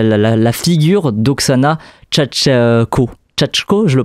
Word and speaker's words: Chatchko: Tchako, je le prononce bien ?